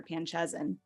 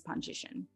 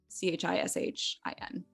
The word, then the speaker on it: Panchishin: Panchezin, because no one could say it. But the actual pronunciation I've learned in the last like 10 years is Panchishin. Panchishin. Yeah, Panchishin. So it's like Pahnchishin, Panchishin.